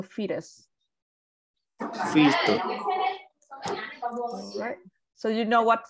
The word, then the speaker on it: fetus: fritters yep fetus um so that the tea in here it sounds a little bit like a d so fetus so you know what fetus is what's the meaning